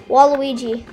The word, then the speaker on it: Waluigi: How do you say it? Walugi? Walugi? Waluigi.